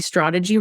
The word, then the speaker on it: Stradaji: A fun marketer once told me Stradaji rhymes with prodigy, so stick to that.